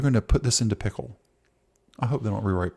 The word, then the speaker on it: Pkl: It's PKL but you pronounce it pickle.